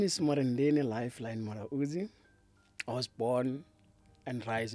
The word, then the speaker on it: Mulaudzi: Today we have Murendeni Mulaudzi. Thank you so much for welcoming myself. Like, I really love the way you pronounce myself, Mulaudzi.